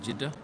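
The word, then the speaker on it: Jeddah: night as does jida and that's how you pronounce it jida uh and what about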